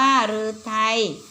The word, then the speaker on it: ฤทัย: นะ คะ แล้ว ไป คำ ว่า รือ ไทย อ่าน ว่า หรือ ไทย ก็ แปล ว่า คำ